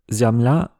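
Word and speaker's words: зямля: On a aussi des e non accentués qui deviennent a même si c'est un peu plus compliqué que ça. Comparer le mot terre ziamla avec le russe zimla.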